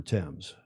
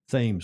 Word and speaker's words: Thames: Well, we say Thames Street here in the UK, and not the River Thames. In Newport, Rhode Island, we say Thames Street, Upper Thames, Lower Thames Street. But you say tomato, I say tomato.